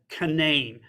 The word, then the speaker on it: Canaan: land or a valley called canane now this is the West Virginia pronunciation of Canaan c-a-n-a-a-n and it was written